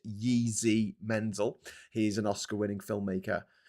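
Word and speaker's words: Jiří Menzel: I think it's pronounced Yeezy Mensel.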